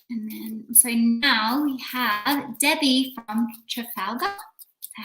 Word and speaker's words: Trafalgar: And then, so now we have Debbie from Trafalgar.